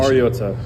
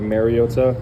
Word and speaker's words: Mariota: Um, I think it's been said over the years like Marota. um which is incorrect and it's pronounced mariota. Mariota. Yeah. All right. Thanks, dude. So, the emphasis goes on the O mar first not may marota.